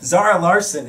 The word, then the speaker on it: Zara Larsson: Zara Larsson in the building.